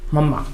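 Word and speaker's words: mamma: प दे दीजिए और यहाँ स्ट्रेस है पप्पा, और उसी तरह से इसका भी है माँ, यहाँ स्ट्रेस है मम्मा।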